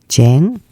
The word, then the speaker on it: chán: my favorite Vietnamese words Chang you can say this word like native regardless of your IQ let me break the word down into three parts the consonant CH sounds like J in English e PC j j